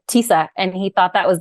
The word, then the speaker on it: Tisa: the minute I go it's like Lisa with the teeth they go oh okay